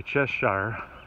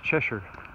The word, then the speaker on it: Cheshire: they're going to in the South we say chest Shire but here it's pronounced Cheshire and so I'm going to chew ten miles